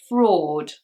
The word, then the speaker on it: fraud: The AU sound here just makes an OR. It's actually the same sound as the previous word, for. It's fraud.